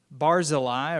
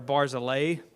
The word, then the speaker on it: Barzillai: So in that vein, we're going to look at a man named Barzillai, or Barzillai, depending on the pronunciation that you find somewhere.